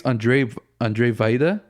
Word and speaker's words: Andrzej Wajda: I think it's Andrzej Wajda, but it's spelled AndrzejWajda.